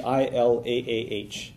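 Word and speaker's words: إله: to write that in English it would be i-l-a-a-h Ila it's pronounced pretty easy to pronounce in English Okay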